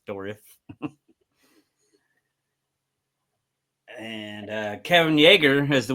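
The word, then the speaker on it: Dourif: I always say dorif because there's an I in there. So that's how I pronounce it. That's how I hear others. So I don't say dwarf like a like a dwarf, like a It's dorif.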